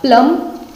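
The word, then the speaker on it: plumb: आगे वर्ड है, बोलिए आप मेरे साथ साथ, कमेंट बॉक्स में लिखते चलिए कि अगर बी साइलेंट करेंगे तो क्या बन जाएगा, प्लम, ठीक है, प्लम बन जाएगा।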